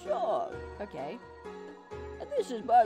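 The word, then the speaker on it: Seam: The name C, pronounced Sean.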